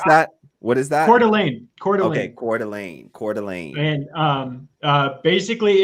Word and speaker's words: Coeur d'Alene: How do you pronounce that? What is that? Coeur d'Alene.